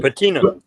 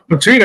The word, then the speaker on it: patina: tools I've earned their how do you say patino patina you had to see my electrical tools from